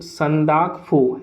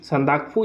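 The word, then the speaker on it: Sandakphu: national park में आपको सांदाकफू एस ए एन दी ए के पी हा यू संरक्कू या फिर ये दोनों प्रोनाउंस किया जाता है दोनों बोला जाता है ये पिक जो है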